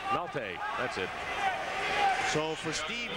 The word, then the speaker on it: Maltais: How do you pronounce that? Maltais. Maltais.